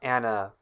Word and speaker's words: animal: A is not always pronounced like A. It can sound like or ah. Let's take a popular international word for creature, the word animal. It's not animal.